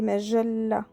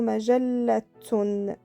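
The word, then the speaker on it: مجلة: Vous avez remarqué que le tsa ici, on ne l'a pas prononcé, on l'entend pas quand on dit majalla. Il est un peu mouillé. C'est très rare qu'on le prononce. Et qu'on le prononce, ça peut être majallatun, par exemple.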